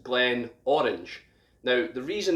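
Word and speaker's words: Glenmorangie: and this is pronounced glenn orange now the reason this is pronounced glen orange is because glenn in gaelic is valley and where this distillery sits is a really big orange field where they grow loads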